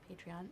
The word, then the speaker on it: Patreon: how you pronounce it right patreon so like patron patron my favorite um so